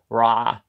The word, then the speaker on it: Ra: So I'm sorry if I don't immediately have the, but I know Ra is pronounced Ra. You gotta go, ha, constrict the top of your throat when you say it.